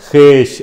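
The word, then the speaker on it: خویش: हाँ, खेश, अव्वल खेश बाद दरवेश। जी, वाव प्रोनाउंस नहीं करनी।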